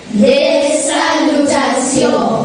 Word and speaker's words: des salutations: Des salutations. Des salutations. Des salutations. Well, it is written the same manner as salutations in English, but we pronounce it as des salutations.